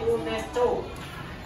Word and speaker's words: UNESCO: Tulisannya UNESCO, tapi dibacanya UNESCO.